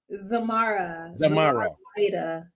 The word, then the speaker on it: Zormarah Lyda: Zormarah Lyda.